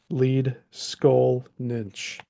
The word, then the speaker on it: Leedskalnin: nches the laian words usually place the accent on the first syllable and the NS ending